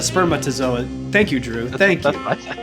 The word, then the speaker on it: spermatozoa: I said spermazoa instead of spermatozoa.